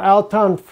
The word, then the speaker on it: Al-Tanf: This is Al-Tanf, or Al-Tanf is actually the way you pronounce it, Al-Tanf. I can't ever get that name just exactly right. I want to say Tanf instead of Tanf.